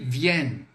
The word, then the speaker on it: viennent: Então, se liga na pronúncia. Ils viennent, tá? Bem sutil, vamos lá, façamos juntos. Ils viennent. Viennent.